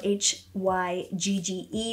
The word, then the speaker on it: hygge: It's spelled H-Y-G-G-E, but it's pronounced Hygge. It's a Danish word, it's in a different language.